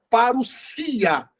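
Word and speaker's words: παρουσία: Então, alguns falam parousia ou parousia, mas é parousia, ok? O S, que é o sigma, sempre tem som de S, nunca de Z, como no português.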